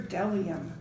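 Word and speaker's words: bdellium: And then we have B is for delium. We doubt anyone knows what delium is, but it's the only word dumb enough to begin with a silent B.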